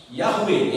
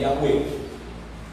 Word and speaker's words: Yahweh: Yahweh é a pronúncia correta do tetragrama, que é traduzido para nós como Jeová, como Javé, como Yahvé, como, né, tantas, mas a pronúncia correta é Yahweh.